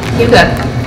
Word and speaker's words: Hygge: years collected all those thoughts and ideas and Huga can do this is Huga on name it is spelled h y g g a lot of